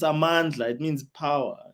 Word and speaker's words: Amandla: And no one knows how to pronounce her name. It's Amandla.